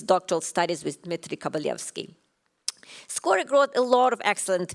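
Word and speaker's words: Skoryk: Another anecdote I like to tell about Skorik, in Ukrainian language, we have this rolling R. So it's supposed to pronounce Miroslav Skorik.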